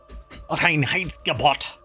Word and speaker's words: Reinheitsgebot: When Bavarian beer purity law, the it's Reinheitsgebot. You have to say it like that. It's very intense sounding.